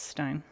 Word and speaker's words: Stein: You were getting confused because of names with st e i n in it being pronounced both ways. Yeah. Um Stein. Uh yeah. No, the um the e what I remember from my German class is that ei you take the pronunciation from the second letter. Um in the sense that if it's ei, it's i.